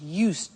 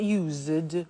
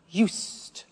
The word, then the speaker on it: used: I said used with a t sound. Used, not used or used. Used.